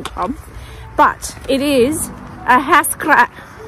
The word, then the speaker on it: Ahascragh: say it say it so it is not pronounced ass crack which is how I pronounced it the first